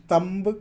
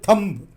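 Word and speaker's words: thumb: तंब है सही प्रोनाउंस, लेकिन यहाँ लोग थोड़ा दम लगा के बोलते हैं क्योंकि वो ताकतदार है ना, थोड़ा मोटा भी है ना, इसलिए थंब यूँ बोलते हैं। कोई दम लगाने की जरूरत है, इसका प्रोनाउंसिएशन सिंपली तंब भी बोलने की जरूरत नहीं, साइलेंट है।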